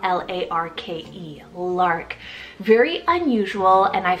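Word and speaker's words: Larke: also have the animal name here Lark spell l-a-r-k-e Lark very unusual and I feel underused quite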